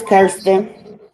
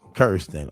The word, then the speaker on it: Kirsten: Kirsten Bayer says, Kristen, how you pronounce this name, Angel? It's Kirsten. Kirsten.